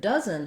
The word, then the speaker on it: dozen: So in dozen, we have first syllable stress, but our O doesn't really follow the rules here. It is a vowel schwa, and it sounds like